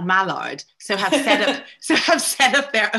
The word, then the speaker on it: Mallard: I wanted to ask you specifically about, am I pronouncing it correctly? Is it Mallard?